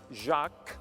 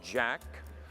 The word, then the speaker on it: Jacques: It's true, he's known me for 35 years and still has not figured out that my name is pronounced Jacques, not Jack.